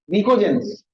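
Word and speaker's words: pnictogens: हाँ, निकोजेंस, P silent.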